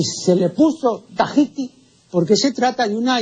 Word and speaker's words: Tahiti: tahitiano ni tampoco es tahití la pronunciación correcta del nombre de esta Isla es tahiti el término tahiti Es